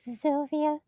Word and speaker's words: Sylvia: It would just be like Sylvia.